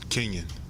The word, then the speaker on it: Kenyon: So can you tell me how to pronounce it? Is it Kenyon or Kenyon? Kenyon.